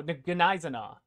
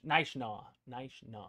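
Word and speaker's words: Gneisenau: Nishnaw. The G is silent.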